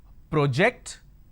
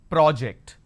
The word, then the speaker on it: project: I mean by this I can either pronounce this as project or I can pronounce this as project is there a difference